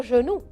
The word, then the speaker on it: genou: Avec le E, je prononce je. Genou. G-E se prononce je. G-A se prononce ga, comme organe.